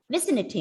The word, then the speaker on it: vicinity: have learned the rule when a word ends with the letter y the stress is given on the third last syllable so one two three vicente vicinity okay the word is pronounced as vicinity vicinity means surrounding area